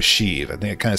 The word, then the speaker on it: Sheev: this the way that if I'm pronouncing it rightly from the person in the comments and says shiv shave if but long e would be sheave okay we'll go with sheave I think it kind